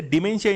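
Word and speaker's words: dementia: तो ठीक है, डिमेंशिया यहाँ पे करेक्ट प्रोनाउंसिएशन होगा।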